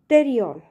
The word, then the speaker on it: pterion: The spelling starts from letter P, but pronunciation is pterion.